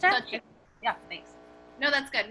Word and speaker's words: Xochitl: My name's pronounced Xochitl. Sochi? Sorry. I'm so sorry. It's Xochitl.